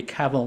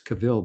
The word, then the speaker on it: cavil: These the group has accomplished with such a degree of acceptability that we cavl not at the harmony of the group." I'm hope I'm pronouncing that right.